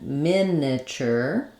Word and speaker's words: miniature: with this side um in these pronunciations in miniature and miniature we have first syllable stress letter I says I in both syllables um and this can sometimes also sound a little bit like awah Mina miniature it's